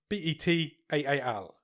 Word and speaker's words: Betaal: It's called, how are we pronouncing this, Nick? Betal? Batal. Betaal.